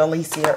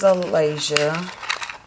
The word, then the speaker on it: Alasia: I think I said Alicia earlier.